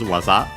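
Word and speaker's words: 技: I think the accent should be on the last syllable. It is Waza.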